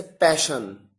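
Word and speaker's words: passion: और एग्जाम्पल्स आपके सामने देखिए, आपके सामने और एग्जाम्पल्स हैं जैसे पैशन। यहां पर एस के साथ एच नहीं आया, डबल एस आया है, लेकिन प्रोनाउंसिएशन में शलगम वाला श है।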